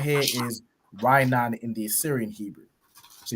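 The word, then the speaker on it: רענן: You have a ra and an I joined to make rai, and a na joined to make nan.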